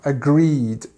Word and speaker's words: agree: agreed or to agree agree is actually uh a word that you need to make sure you get this stress on the second part because if you say agree it doesn't sound right agree in fact you